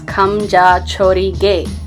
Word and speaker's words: Khamjachorige: recipe called comme de toda game yes it's pronounced s come ja chori gay come - holy game it's an awesome dish